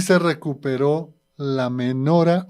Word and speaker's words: menorá: y se recuperó la menora o menorá menora la mayoría lo pronuncian así el candelero de las